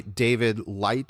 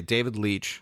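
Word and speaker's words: Leitch: this is directed by David light short leech I don't believe it's leech okay David leech you know pronounced like my last name David leech who was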